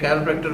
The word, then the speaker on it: chiropractor: बहुत से लोग वाकिफ नहीं, इवन के लोग इसको सही प्रोनाउंस भी नहीं करते। द वर्ड इज कैरोप्रैक्टर और जो इलाज है उसको कहते हैं कैरोप्रैक्टिक थेरेपी, ठीक है।